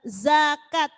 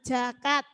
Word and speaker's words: zakat: Zakat, jangan jakat.